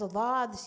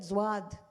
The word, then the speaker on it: ض: You know these excuses you get, but my teacher didn't teach me, and my mom didn't teach me how to pronounce Dhad. She said Zwad.